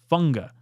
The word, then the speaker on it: Fuaga: Keep jacking it up I know it's not fuaga I see the word and I say fuaga it's funga tiis funga I'll get it